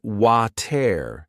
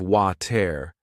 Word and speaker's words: water: When I listened to native speakers say it, I noticed they didn't always pronounce the T in the middle. They said water instead of water.